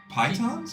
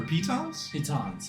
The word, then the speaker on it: pitons: Pythons or pitons? Pitons.